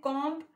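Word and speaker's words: comb: जिन्होंने silent letters है जैसे कॉम कॉम इंग्लिश में कंघी को कहते हैं अब कौए दें बींस साइलेंट है फिर है रैपर रैपर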